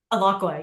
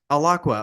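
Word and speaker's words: Alaqua: Is that how I pronounce the name? Aloqua. Yeah. Aloqua.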